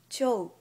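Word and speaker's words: 兆: turin is written as cho but for the pronunciation you just ignore the last u sound and pronounce o sound right before u cute job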